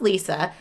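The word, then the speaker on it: Liza: inner city DC where Lisa but spelled l-i-z-a she wants it pronounced Lisa where Lisa and her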